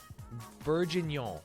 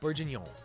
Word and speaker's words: bourguignon: Beef How do you pronounce that word? Hello? Any phonetic Andes? It's not beef bourguignon. Bourguignon.